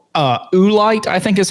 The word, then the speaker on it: oolite: It's a type of limestone called uh oolite, I think is how it' be pronounced.